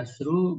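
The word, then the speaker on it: عَشْر: eh syinnya sukun bedanya asru banatin Jadi kalau untuk muanas pengucapan asarnya itu sukun asru kalau untuk Muzakar eh synya fathah asar gitu itu bedanya itu ada di eh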